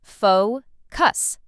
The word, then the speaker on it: focus: Bonus word two, focus. Some learners put the stress in the wrong place, but it's simple. Faux cuss. Stress on the first part.